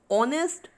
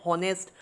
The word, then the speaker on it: honest: Next is honest, honor, R, air. Here what is silent? H is silent. We are not pronouncing the word as honest, honor, har and hair.